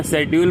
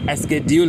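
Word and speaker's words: schedule: मैं पहले भाई प्रोनाउंसिएशन बोलता था लेकिन एक्चुअली में प्रोनाउंसिएशन होता है और मैं शेड्यूल बोलता था जबकि स्ेड्यूल होता है।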